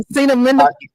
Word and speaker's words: acetaminophen: that because Because Aceta, because I Aceta, I, Acetaminophen. I I think can't that's the way I you can't pronounce pronounce it.